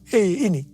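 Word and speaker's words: ה: yang terbentuk pada huruf He ini merupakan gambaran telah atau jendela mulut Tuhan yang menghembuskan rohnya perhatikan juga cara pelafalan huruf ini pun seperti orang yang menghembuskan nafasnya Hei nama Abram berubah menjadi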